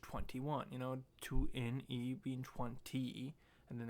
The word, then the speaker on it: 2NE1: for the longest time she thought it was just 2NE1. And in the video she says it's pronounced 21. And that's when I realized it was pronounced 21.